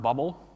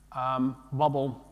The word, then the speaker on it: BBL: called borscht boot loader it's pronounced bubble bbl bubble has it's a wrapper